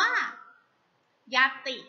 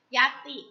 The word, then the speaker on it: ญัตติ: 3 ค่ะ คำ ว่า ญัตติ ค่ะ ยักษ์ สิ อ่าน ว่า ยัต พี่ ยัต อิ่ม แล้ว ก็ ไป ด้วย ยอ หญิง ไม้ หัน อากาศ ตอเต่า รอ เต่า สระ อิ ค่ะ ญัตติ นะ คะ มี ต.